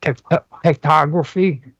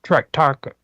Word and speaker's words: tractography: globe when it's mapped in a 3D dimensional tectography, or I believe is how they pronounce that. Tractography is how it's referred to.